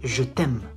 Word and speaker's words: je t'aime: You say je t'aime. Je t'aime. Not je t'aime. There's no H. T'aime. Not t'aime. T'aime.